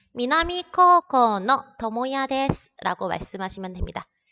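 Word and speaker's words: 高校の: 자, 코라는 단어를 잘 봐두셔야 되는데요. 코우라고 읽지 않습니다. 왜 그렇게 읽지 않을까요? 네, 오단 다음에 우가 왔을 경우에는 우리가 얘를 말을 할 때 장음으로 발음을 하시면 됩니다.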